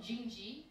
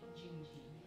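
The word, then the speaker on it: Dindi: It's called Jingji. It's spelled D-I-N-D-I, but it's pronounced with a J, Jingji.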